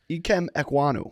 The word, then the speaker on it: Ikem Ekwonu: Hank, you pronounce it. Ikem Ekwonu.